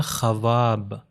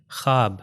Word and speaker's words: خواب: اگر اس کو واو کا تلفظ کیا جائے تو ہو جائے گا خواب، مگر یہاں پر ہم واو کا تلفظ نہیں کرتے، ہو جاتا ہے خواب. یعنی لکھا جائے گا، تلفظ نہیں ہوگا، تو وہ واو وہاں پر سائلنٹ لیٹر.